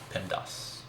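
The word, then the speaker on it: PEMDAS: easy way to remember this acronym is to pronounce it pendas the p in Pinos will stand for parenthesis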